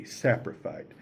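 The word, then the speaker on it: saprophyte: Saprophy is spelled s a p r o p h y t e. A sapriphite.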